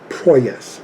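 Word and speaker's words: Proyas: not goingon to say Alex Poes um or uh proes that's how you say it uh knowing um you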